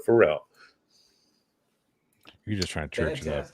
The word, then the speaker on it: Farel: farrell it's uh f-a-r-e-l not pronounced farrell but pharrell you're just trying to